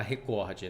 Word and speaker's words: recorde: exemplo para você ó recorde se fosse se fosse proparoxítona ela seria acentuada recorde mas ela não é acentuada então é recorde é paroxítona todas as